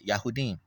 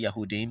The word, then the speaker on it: Yahudim: But the word Yahudim is there. Yahudim. That's proper. You can say Yahudim because Yahoo.